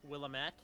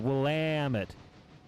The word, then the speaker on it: Willamette: I have also heard it been pronounced Willamette. Don't know the efficacy of that statement. Yeah, I've had a few people correct me and say it's the second syllable, Willamette.